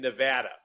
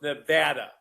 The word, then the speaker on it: Nevada: And this is really important to people that live in Nevada. That we really like it pronounced Nevada, not Nevada.